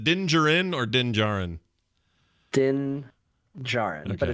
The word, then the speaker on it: Din Djarin: Din Djarin, but Okay. it's spelled with a quiet D at the end.